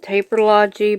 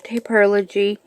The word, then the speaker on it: Taperlogy: I'm going to do a Taperlogy unboxing, and that's, yes, everyone else pronounces it Taperlogy, but it's actually Taperlogy.